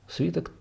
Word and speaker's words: свиток: еще известен как Тора, свиток по-русски, правильное ударение, свиток Торы.